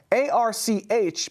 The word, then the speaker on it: Arch: the arc mission foundation that's a rch but pronounced arc if that sounds vaguely